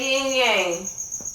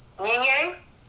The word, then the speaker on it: yin yang: Ebony, say yin yang. Ying Yang?